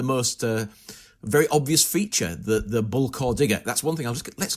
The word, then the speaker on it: Bullecourt: So we're going to start at perhaps the most very obvious feature, the Bullecourt digger. That's one thing. Let's get this out the way. How do we say this name? Bullecourt is how most Australians who have not heard